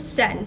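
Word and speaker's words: Cenn: His name is Sen, C-E-N-N.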